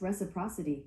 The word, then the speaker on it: reciprocity: That's pronounced reciprocity.